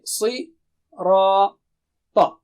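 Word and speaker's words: الصراط: And also it's not English Ra. No. Ra. With low frequency. And Ta is again very thick and high. Okay. Si. Ra. Ta.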